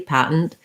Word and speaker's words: patent: But if it's a word I use regularly, patent, I'm probably going to use those stop T's. Okay, so definitely 2 syllables.